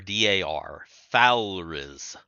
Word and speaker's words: Dar Falriz: but But no, the Titan is named Dar, D-A-R, Falriz. Dar. Dar Falriz. Did I spell that right?